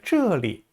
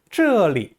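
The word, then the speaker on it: 这里: 근데요, 여기라고 할 때 这里 저기라고 할 때 那里 어디라고 할 때 哪里 집 안에라고 할 때 家里 하는 식으로 이 리자는요, 어디 속이라는 의미로 경성으로 이렇게 발음합니다.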